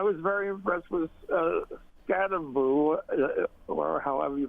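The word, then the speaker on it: Skattebo: The second one is is uh I was very impressed with uh Scataboo or however you pronounce.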